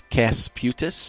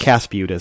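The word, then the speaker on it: Kasputis: It's Casputis. Casputis. So I was pretty close. K-A-S. So yeah. Cas.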